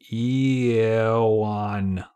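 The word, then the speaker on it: IEOUAN: The letters I-E-O-U-A or I-E-O-U-A-N, which we pronounce Eowan.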